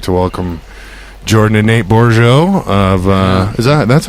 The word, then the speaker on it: Bourgeot: No, it's just usually Borgalt. Yeah, Bourgeot. No one has any class. At my anymore. old job, they used to put the L before the U.